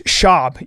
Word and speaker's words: Schaub: Where's Brendan Schwab from? It's Shab. You have to say his name right.